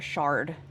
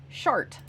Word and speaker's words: shard: During this time we were looking for a shard. S H A R D. And cowboy would not stop pronouncing it as shart.